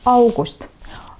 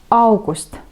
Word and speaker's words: august: По-эстонски это «аугуст». «Аугуст». Буковку «а» хорошо произносим, чтобы ее было слышно. И ударение на первый слог. Да? «Аугуст».